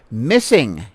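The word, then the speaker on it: MSSNG: support Autism Speaks but this is what's crazy missing is how this is pronounced MSS n g missing is a ground BL breaking collaboration between Autism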